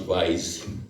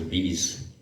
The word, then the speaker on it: Weiss: I got to know it's pronounced Weiss. I thought it was Weiss.